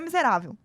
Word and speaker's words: miserável: nome da pessoa é miserável. Achei ótimo, inclusive, né? E aí você vai e fala assim, miserável. Repararam que eu me delonguei mais no rá?